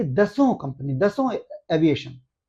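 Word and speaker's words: Dassault: इसके लिए रेस में फ्रांस की दसल्ट यानी दसों उसको दसों कहते हैं। वहां की जो फ्रांस की जो वहां का जो उच्चारण है उसमें उसको दसों बोलते हैं।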